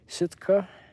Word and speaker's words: Sitka: I've been to Sitka, the little town there.